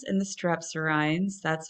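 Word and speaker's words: strepsirrhines: So we have the haplorhines and the strepsirhines. That's how that's pronounced.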